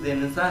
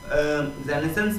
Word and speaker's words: Renaissance: हुआ है दी रेनेसां, यहाँ पर दोस्तों इसके प्रोनाउंसिएशन के ऊपर अगर मैं बात करूँ, डिस्कस करूँ, तो जो रेनेसां है दोस्तों, रेनेसां को कुछ लोग रेनेसेंस भी बोलते हैं और कुछ लोग इसको रेनेसां भी बोलते हैं।